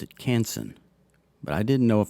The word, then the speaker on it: Canson: thought maybe it was kansan so i googled it and apparently the french way to say it is more like conson and since it's a